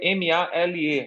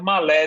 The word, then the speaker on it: Malé: o nome da capital às vezes se escreve ma l e às vezes é pronunciado Male às vezes é pronunciado Malé dependendo da dependendo da da pronúncia eh olha a capital